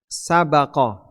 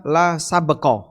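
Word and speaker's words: سبق: qof dalam hadis ini ada dua cara baca bisa dibaca la saqo bisa dibaca la sabqo dengan bnya di bisa dibaca bnya di fathah bisa dibaca bnya di sukun kalau dibaca bnya di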